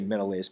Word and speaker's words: Menelaus: brothers agamemnon and menelaus or will say Menelaus meant allowances sort of a weird pronunciation sometimes but Menelaus okay Agamemnon is the